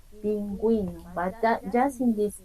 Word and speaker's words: pingüino: we call diéresis, and when you see these 2 points above the vowel U, you have to pronounce like pingüino. Yeah, you see, you can hear the pronunciation. I'm pronouncing the vowel U, pingüino, but that just in